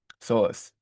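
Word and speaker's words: psoas: This P doesn't pronounce idiosis. Source.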